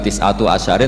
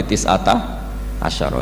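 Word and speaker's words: تسعة عشر: tisata Asaro utawi 19ong tetap bacanya bukan tisatu asarin tapi tisata asyaro jadi kita tahu secara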